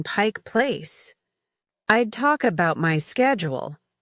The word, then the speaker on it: Pike Place: I'd ask for directions to Pike's Place Market, and the person would say, "Oh, you mean Pike Place.